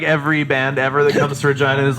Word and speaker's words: Regina: in Regina like every band ever the toughest Regina is like what's up you know your city's name rhymes with fun right thank you thank you and